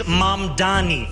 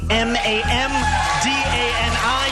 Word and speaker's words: Mamdani: The name is Mamdani. Mamdani.